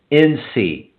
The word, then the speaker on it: RecordLinc: Good stuff there from CEO Travis Rogers from RecordLink, and that's spelled RecordLinc. Yeah, so it's no K on there.